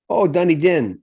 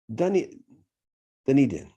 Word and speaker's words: Dunedin: Dunedin is how you pronounce it. Dunedin, yeah.